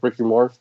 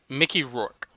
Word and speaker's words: Mickey Rourke: So, yeah, I hope it's good, like the Wrestler movie, like Ricky Rourke. How did you say his name? Mickey Rourke.